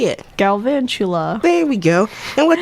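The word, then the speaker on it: Galvantula: Van Van chu chu la blah say it galvan Chula there we go and what does that mean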